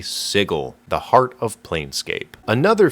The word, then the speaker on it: Sigil: How do you pronounce this word? If you said sigil, you'd get laughed at and cut into pieces in my favorite city, Siggle, the heart of Plscape.